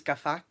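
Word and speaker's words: gaffall: it's incredibly hard, especially with like a double L, which is like pronounced like like that. Like the word for fork is gafak, and in English it sounds like sort of sounds like you're saying gafuck. I swore, but it's like gafak.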